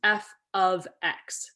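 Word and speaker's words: f(x): this is often pronounced F ofx okay so whenever you see um these parentheses you say the word of so F ofx and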